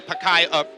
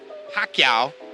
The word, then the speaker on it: Pacquiao: as the unknown fighter whose name cannot be pronounced correctly tail of the tape for lisinola against Manny pacaya Pacquiao I'll get it right Pacquiao it was the